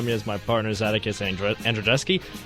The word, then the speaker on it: Andrzejewski: Alongside me is my partners Atticus Andrzejewski. Andrzejewski, right? I'm saying it right? Yeah.